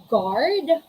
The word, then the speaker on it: guard: all right so again there's the letter u and the letter u comes after comes after letter g letter g then followed by letter u and then after letter u there is a vowel it can be a a e i o u if that's the case you should not pronounce or you shouldn't you should never pronounce letter u what are the examples